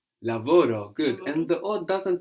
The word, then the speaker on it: lavoro: today good Oh G lavoro lavoro at G and it's important not to have the accent on the ending if you were to say lavoro this would mean he or she worked in the past and